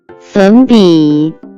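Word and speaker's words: 粉笔: Next vocabulary that we have is chalk which in Chinese can be pronounced as sun bi.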